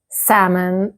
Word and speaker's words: salmon: Did you say the L? And what about this one? 5 letters, but almost no sound. So did you say Wednesday, salmon, and Q?